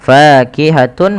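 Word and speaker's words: فَاكِهَةٌ: Maka kita masukkan dulu huruf tanwinnya, fakihatun menjadi fakihatu.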